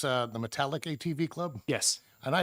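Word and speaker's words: Metallak: the chair did you say it's uh the metallic ATV Club yes and I apologize for my pronunciation but so everybody knows in my own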